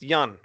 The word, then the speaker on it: Jan: I always say the name wrong. Jan, no, it's Jan, because I always pronounce the A like a long kind of. But it's Jan.